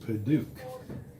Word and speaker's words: Padauk: This is Padauk. Okay. You ever heard of that? It's not spelt like Padauk, it's spelt like knick-knack, paddywhack. Okay. P-A-D-U-A-K Okay. is pronounced Padauk.